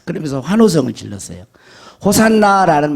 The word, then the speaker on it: 호산나: 호산나라는 말은 무슨 뜻이냐면 히브리어로 호시아나 이런데 이제 헬라식 발음이에요.